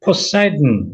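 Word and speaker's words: Poseidon: 자, 이거는 이제 국어로는 포세이돈 이렇게 하는데 영문으로 읽을 때 발음 자체를 이제 염두에 두시면 좋은데요. 포사이든 이렇게 들어가죠.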